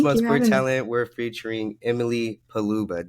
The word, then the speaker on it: Paluba: Talent we're featuring Emily paluba did I say your name right yes you said it right all right pretty good